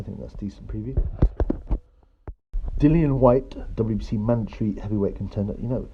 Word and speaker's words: Dillian: Dillian White, WBC mandatory heavyweight contender. Some people still call him Dylan White, but I'm pretty sure it's pronounced Dillian.